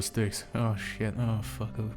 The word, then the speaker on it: Styx: How did you pronounce stick? Fuck, it's the river Styx.